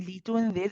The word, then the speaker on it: لتنذر: It's the lam in litunzir has a kasra, not a fatha. I think you pronounce it with a fatha, so just be careful of that.